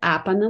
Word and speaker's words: Apana: Alors, je dis Apan, il y a deux prononciations possibles, Apana Mudra ou Apan, sans le A à la fin.